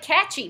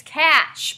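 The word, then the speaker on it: cache: door the next one it looks like catchy but it's cash pronounced cash and it's a hiding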